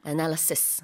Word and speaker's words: analysis: 이제 복수 형태일 때는 뒤에 is가 아니라 es로 바뀌어서요. analyses 이렇게 발음이 되고 단수일 때는 is로 끝납니다. analysis Yep.